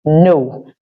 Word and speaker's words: know: why I said no just bear in mind that the K is silent this is no your ability to know